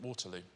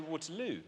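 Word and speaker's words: Waterloo: like Porter l no I say watero and that's where I I like I choose to put my stress there watero on the third syllable think about the chorus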